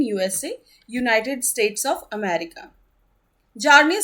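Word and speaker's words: Bjarne: किन्होला नि ट्रॉस्ट ट्रूप यहां पे बी साइलेंट रहेगा सो इसका प्रोनंसिएशन होगा जर्नी ट्रॉस्ट ट्रुप और ये डेवलप हुई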